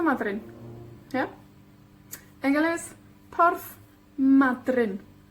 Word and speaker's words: Madryn: En galés, Porth Madryn. Madryn. 2 sílabas, la primera con la énfasis. O la penúltima con la énfasis.